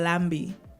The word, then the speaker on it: lambi: Lucia, it's called lambi. Lambi, yes. A lamb? No, like Nambi? like lamb and bee. Lambi.